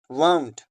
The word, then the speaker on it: wound: Tight कर रहे हैं, उस टाइम इसको हमने प्रोनाउंस करना है वाउंड। वाउंड, वाउंड, वूंड एंड वाउंड दोनों में डिफरेंस है।